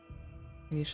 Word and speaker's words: niche: Apparently niche is older. nish is relatively a relatively new way to pronounce it.